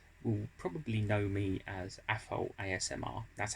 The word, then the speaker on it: Afol ASMR: Well, most of you, if you've found my channel, will probably know me as Afol ASMR. That's how it's pronounced. It's spelt AFOL-SMR, but it's pronounced Afol ASMR.